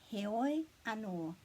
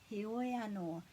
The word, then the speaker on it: heoi anō: You just pronounce them and then glide them together. Heoi, heoi anō, heoi anō, heoi anō, heoi anō, however.